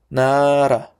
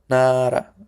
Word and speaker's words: 나라: If this letter comes between vowels, it is pronounced as R. But in different cases, it's pronounced L. L. Nara, nara.